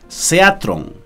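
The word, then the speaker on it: θέατρον: En griego es la palabra seatrón o algo así, ¿no? Seatrón, con el acento en la E.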